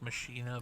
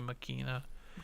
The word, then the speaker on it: Machina: said like Machina, but it's actually Makina.